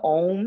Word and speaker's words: Aum: of your own home the sound ohm is spelled AUM and it starts kind of like when you're at a dentist there's this ah sound the AH sound gets shaped with our mouth and our lips kind of like you're